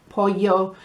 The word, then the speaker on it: pollo: When there's a double L, it's a y sound. So we have pollo, empanadilla, bocadillo, and when it's QU, it's a k sound.